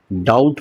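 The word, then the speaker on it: doubt: लेकिन इसमें बी होने के बावजूद भी हम उसको डाउट ना पढ़ के हम इसको डाउट पढ़ रहे हैं। मतलब हमारा बी यहां पर क्या है? साइलेंट है, शांत है।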